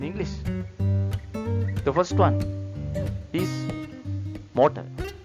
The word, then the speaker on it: motor: The first one is motor. How to pronounce in Spanish? Motor, motor. Letter T sound as TH sound.